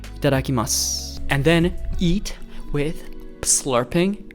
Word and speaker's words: Itadakimasu: So one more time, say it with me so that you pronounce it right. Ready? Itadakimasu.